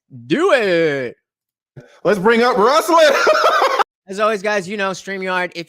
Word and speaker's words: Ruslan: Ruslan. Ruslan. Like Tucson or Yukon or Futon. Ruslan.